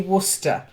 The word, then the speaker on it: Worcester: very famous sauce and it's very difficult to pronounce when you look at the letters it's actually Worcester yeah is it what's